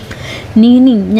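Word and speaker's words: neighing: नीनिंग यहां पे जी साइलेंट रहता है। इसको नीनिंग बोलेंगे।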